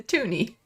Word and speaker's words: toonie: two dollar coin and we wanted it to rhyme with looney so it became the toonie that's the story in